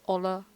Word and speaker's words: Hola: Wait, is it Hola? The H is silent.